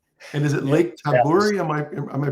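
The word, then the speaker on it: Tabourie: And is it Lake Taburi? Am I Am I pronouncing that correctly? Lake Tabori. Lake Tabari.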